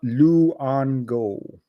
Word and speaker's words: Luongo: His name is pronounced Tom Luongo.